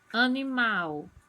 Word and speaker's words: animal: Animal. Mal é a sílaba tônica.